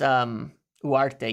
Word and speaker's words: Ugarte: That's Uarte. Yeah, it is. It is. I know you don't pronounce the G, I guess, technically.